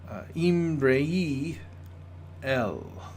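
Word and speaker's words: אמרי־אל: So the phrase, the words of God, is pronounced Imrei El.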